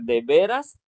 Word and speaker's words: de veras: La pronunciación es diferente. Ese dice de veras y el otro deberás.